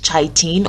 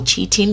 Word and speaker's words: chitin: fibers and you also have a molecule called chaitin or cheating depending on how you pronounce it and this molecule is also for